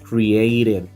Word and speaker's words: created: Cuando lo pones en pasado es created, como hay dos vocales que va a sonar como r created.